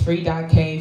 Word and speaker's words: Free.K: So, um, my name is free.k. Free knowledge. Free, but the K is silent.